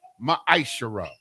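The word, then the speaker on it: מעשר: verses 8 through 10 means 10th in the hebrew and it's pronounced ma i shara 10 of every penny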